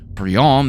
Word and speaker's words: Briand: And yes, that's how you pronounce this name in French. I'm Canadian. Briand means boisterous or noisy, perhaps some foreshadowing for the horrors to come?